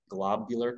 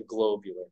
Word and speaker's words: globular: And I really emphasize the pronunciation because it's not a globular cluster. It's not a glob shape, although it is a glob. It's a globular cluster. I've been pronouncing it wrong all these years.